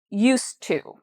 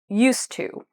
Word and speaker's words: used to: Used to. Okay, so even though there's an ED, we're not pronouncing it like use it. We're pronouncing it as one syllable as use. Used to.